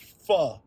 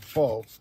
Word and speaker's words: pho: phenomenal faux nominal because remember it's pronounced fu not fo so fu nominal bowl